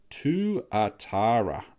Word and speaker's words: tuatara: Euro I might do I'm not too sure to Atara okay cool is the correct pronunciation the New Zealand five cent coin lizard so what is it Tuatara Tuatara where is it I'll see if I